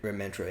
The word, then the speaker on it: Mentra: Mentra, yeah. Mentra. Yeah. What did I say? Mantra? Yeah, Mantra, yeah. How do you pronounce it? Mentra. Mentra, not Mantra? Yeah, Mentra.